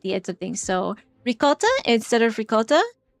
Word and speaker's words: ricotta: So ricotta instead of ricotta. And like non-Italian Americans will just say ricotta, right? They'll say, Italian Americans will say rigut.